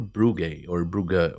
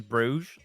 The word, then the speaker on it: Brugge: It's Brugge, but I don't want to do that to anyone. And like the English pronunciation of the city is Bruges, so I just go with Bruges.